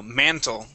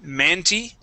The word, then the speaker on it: mantle: mantle instead of manty.